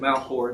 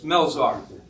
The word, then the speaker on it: Melzar: Yeah, I said Malchor. It's Melzar.